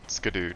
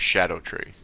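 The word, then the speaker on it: Scadutree: So that's Skidoo tree.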